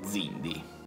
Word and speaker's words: Xindi: Ovviamente non vi sto a dire che in inglese si chiamano Zindi. We supply many species of chemosite, not just Zindi. Perché inizia una X.